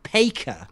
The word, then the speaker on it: Faker: one's thought of so in Korea they don't actually have the letter F so they can't pronounce the letter F right they say p so they Call Faker the best player in